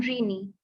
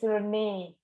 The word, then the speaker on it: Renee: So now I would like to call upon Rini. Renee. And this is the image for you. Her name is Renee, Ruku. Sorry, sorry. Her name is Renee. That's how we spell it, Renee.